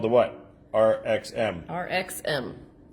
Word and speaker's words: RXM: RXM. With the emphasis on the X.